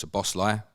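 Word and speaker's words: Szoboszlai: also bought uh Dominic's the bossler can you know that pronunciation as far as I'm aware just leave the Zeds out and it makes your life a lot easier he's a very talented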